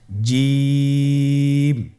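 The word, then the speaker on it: ج: বলুন জিম হা খ জিম হরফটি বারিক হরফ। এটা উচ্চারণ করতে হবে তিন আলিফ টেনে। দেখুন আমি কিভাবে উচ্চারণ করছি। আপনারা আমার সাথে করুন। জিম।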